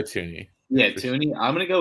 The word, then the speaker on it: Thuney: Right guard, I want to go with another Chief, Joe Thuney or Thuney. I think I butchered his name. It's Joe Thuney.